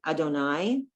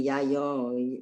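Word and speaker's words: יהוה: Now, Yud He Vav He is always God's name. Adonai. Illinois. Don't try to say yayo. Don't try to sound it out.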